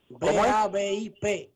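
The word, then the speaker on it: BABIP: es que se escribe, si es como Babi, es para buscar la estadística de bateo. Así pero, mismo que se escribe, B-A-B-I-P, Babi, que es B, bolas puestas en juego.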